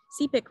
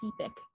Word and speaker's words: Sepik: I've been pronouncing um cpic wrong this entire time it's actually pronounced sepic with a long e so thank you also